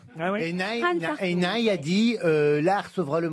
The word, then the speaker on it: Hartung: Hans Hartung. Hans Hartung. Bravo, monsieur Benichou. Ça s'écrit comme attention.